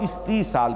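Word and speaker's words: استیصال: तो ये जो अज़ाबे इस्ताल है मैं इसको खास तौर पर जोर देकर यानी प्रोनाउंस कर रहा हूं। इस्तीसाल के कहीं मुगालता ना हो जाए। हमारे यहां एक लफज़ आमतौर पर जो है इस वक्त ज़बानों पर चढ़ा हुआ वो इस्तेहसाल है।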